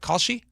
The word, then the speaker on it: Kalshi: Khi Khi, how do you pronounce that? Kalshi.